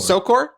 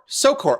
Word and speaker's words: Szokor: Sokor? Sokor. Oh, Yep. so it wasn't too hard. Okay, so the Z is silent.